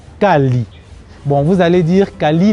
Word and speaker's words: Caly: Kali, ça c'est dans ma langue maternelle, ça se prononce exactement Kali.